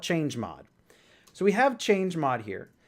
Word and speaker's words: chmod: a command called chmod, also sometimes referred to as chmod or chmod. There's different ways to pronounce it in the community. I'm going to call it chmod.